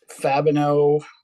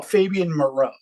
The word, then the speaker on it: Fabian Moreau: plays yesterday Dave where adoree Jackson and um fabino is that how you pronounce his last name uh the cornerback just